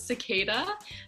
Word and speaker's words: Cicaeda: cicada music so obviously the pronunciation of my name is a little weird so it's C I see a e da music I am Lucia